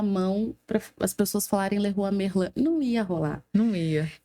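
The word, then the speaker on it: Leroy Merlin: uma marca francesa Uhum E a pronúncia correta também já foi meu cliente é a pronúncia correta el errou a merlan aham eh só que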